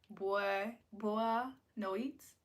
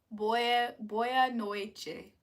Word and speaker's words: boa noite: Boa no eats. ¿Cómo se dice? Boa noite.